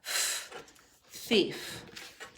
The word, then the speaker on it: thief: We say it EI, even though it's spelled IE, because the sound it makes most often is the E sound. So th, EI, piece of pie, thief, thief.